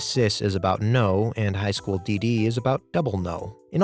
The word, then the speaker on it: High School DxD: Yeah, apparently it's actually pronounced High School DD.